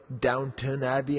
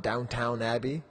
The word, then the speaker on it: Downton Abbey: I know it's Downton Abbey and not Downtown Abbey, you know?